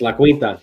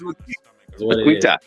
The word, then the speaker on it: La Quinta: It's La Quinta. It's La Quinta.